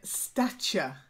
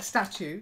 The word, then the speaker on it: stature: okay that's it then stature stature not like statue statue yeah stature isn't a thing it's um uh it's